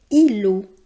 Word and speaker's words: îlot: On prononce ce mot îlot. Vous noterez qu'on ne prononce pas le T final.